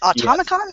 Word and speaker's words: Atomicon: Yeah, I mean, I think, and when you guys were talking about, how you went to Atomicon. Am I saying that right? Was it Atomicon or That's right.